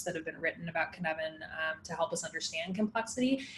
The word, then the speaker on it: Cynefin: that I know how to pronounce it is Cynefin. So it's spelled Cynefin.